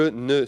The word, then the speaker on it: ne: Again, and I tell people who learn with me, yeah, the ne is not pronounced. People skip the ne. So I'm not American. Je ne suis pas américain.